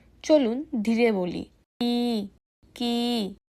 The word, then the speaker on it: く: এই অক্ষরের উচ্চারণ হবে কি? চলুন ধীরে বলি কি কি এখন একসাথে বলি